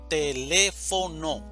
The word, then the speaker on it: teléfono: Teléfono, división silábica, teléfono, sílaba tónica, le, teléfono.